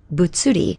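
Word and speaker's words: 物理: Now when we combine it with the li for reason, we get butsuri. And there it is, butsuri, pronounced butsuri, and that means physics.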